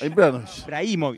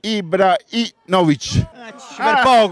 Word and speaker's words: Ibrahimovic: Ibrahimovic?